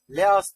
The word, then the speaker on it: LEASH: Killer shiba Eko sisteminin coini leas diye okunur e tanıyalım coini coin